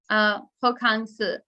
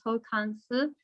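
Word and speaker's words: 호캉스: Korea's travel market is hokkangsu. So it's hotel plus the word vacation in French, but my pronunciation in French is terrible, so I'll just stick with the Korean, but it's hokkangsu.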